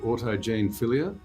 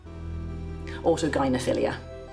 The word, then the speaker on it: autogynephilia: You talk about a condition called, I think it's pronounced autogenephilia, Autogynephilia.